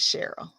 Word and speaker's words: Cheryl: And oh, mine is too, but there's Sherl is Crafty Shamrock, and she pronounces it the same way I do. It's Cheryl as well. So yes, it is Cheryl.